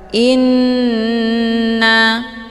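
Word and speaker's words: إنّ: Cara bacanya, hamzahnya dileburkan ke dalam huruf nun dengan cara ditekan kemudian ditahan lebih kurang 2 kali ketukan. Inna.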